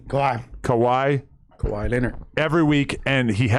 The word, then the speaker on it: Kawhi: I've been picking more on, how would you pronounce that? Kawhi, Kawhi.